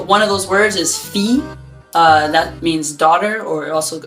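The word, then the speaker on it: fille: a y in english where we say we pronounce that ye so fee versus field or something like that like pronouncing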